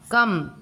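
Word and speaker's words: comb: कॉम्ब, कम, कम, B का pronunciation नहीं हो रहा है।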